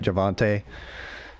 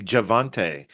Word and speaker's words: Javonte: me no i mean no whammy no emmy javonte williams perhaps perhaps sleep actually perhaps lee is going to be picked by stinko javon he can't even pronounce your name right javonte yeah i said it right multiple times i